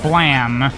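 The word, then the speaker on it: Blame!: I am familiar with blam which is the correct pronunciation of that even though it's spelled blame uh I watch the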